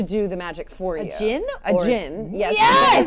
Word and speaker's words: djinn: djinn A or- djinn. Yes. Yes! It's spelled like gin.